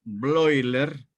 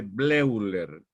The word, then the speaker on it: Bleuler: Y Bleuler se escribe Bleuler. EU es un diptongo que suena, se pronuncia hoy en alemán.